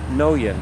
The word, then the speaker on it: Noyen: Sofiana no yen. Just think of being broke in Japan, you have no yen. And that's how you pronounce her last name.